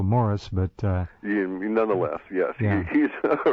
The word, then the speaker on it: Maurice: He pronounces it, as we both know, Morris, but nonetheless, yes, yeah.